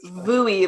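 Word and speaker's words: VUI: do you say that Bui like rhymes with GUI GUI rhymes with GUI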